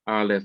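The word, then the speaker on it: אֵל: is another use of aleph lameth if this were a c ray and he didn't have this dot down here and this was a long e sound and pronounced ale this would be another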